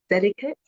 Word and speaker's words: Delicates: And then at the age of 14, she secured her first recording contract with the Delicates. Have I pronounced that correctly? that is correct. The Yeah, Delicates. Yes.